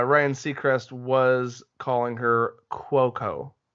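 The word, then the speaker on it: Cuoco: easier but uh Ryan CEST was calling her quoco Kwo quoco so that's how it's officially pronounced but the actress is pretty easy easy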